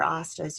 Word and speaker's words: hasta: I want you to think if there's any other hastas you've heard of, maybe in movies or something like that. Let's repeat this. Hasta, repeat an hasta. Hasta. No H is pronounced.